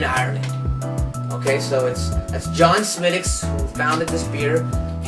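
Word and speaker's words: Smithwick's: So make sure you pronounce it right and say Smidicks, not Smidwicks, because you'll look like a fool.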